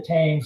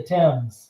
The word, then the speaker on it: Thames: Thames River yeah because I've screwed it up and called the Britain's River the tanks it's the Thames the Thames yeah I'll still screw it